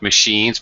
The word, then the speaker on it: machine: Do people still have fax machines, by the way? Machine, not machine. Machine. Machine. Yeah. That's an CH with the SH sound there.